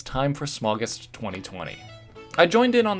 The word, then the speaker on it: Smaugust: Smaug, like from The Hobbit, and August. So, I guess it should be pronounced SMAUGUST.